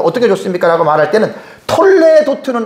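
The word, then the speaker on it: תולדות: 여기에 라멧의 요 애가 모음이 두 개예요. 점 두 개가. 여기 애 발음이 나거든요. 히브리어가. 근데 대부분 요거를 애로 읽는데 이걸 쉐와라 그래요. 쉐와는 소리를 낼 수도 있고 내지 않아야 될 수 있는 모음 부호입니다. 이 쉐와를 내면 톨레도트가 되는데 이렇게 읽으면 안 된다는 거예요.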